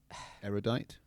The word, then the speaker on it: erudite: wow wow you're so erudite uh using big words now to try to intimidate only three syllables not really hard what's what's the word